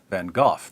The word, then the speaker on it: van Gogh: sanity of Dutch painter Vincent van Gogh or than qohor then or van Gogh depending on where you're from and how far you want to deviate from the authentic American pronunciation according to MacLean van